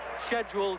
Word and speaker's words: schedule: this scheduled 12 rounder uh I apologize for that London pronunciation but that's what they taught me to say at school and Americans call it schedule but I'll try and use your words as we go along